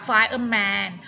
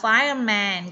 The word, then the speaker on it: fireman: ไม่ ถูก ต้อง ค่า R ต้อง ออก เสียง เอ้อ ด้วย นะ คะ ไฟล์ เอ่อ ที่ แปล ว่า ไฟ นะ คะ Fireman ออก เสียง เออ ด้วย นะ คะ Fireman ก็ คือ พา นัก